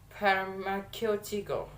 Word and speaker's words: pharmaceutical: Okay, the first example, that is pharmaceutical. Pharmaceutical. Okay, the stress placement in the third two, pharmaceutical. Pharmaceutical, that is in the third.